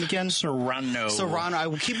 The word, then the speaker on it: Serrano: the last name again Sano Sano I keep W to say Serano and that is not right and and and even Serrano is not right you're supposed to roll the RS but I I know